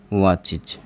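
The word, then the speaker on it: watches: चे आ रहा है, और उसमें आप ई एस ऐड कर रहे हो तो ई एस ऐड करोगे तो उसका प्रोनाउंसिएशन है वो क्या हो जाएगा? इज।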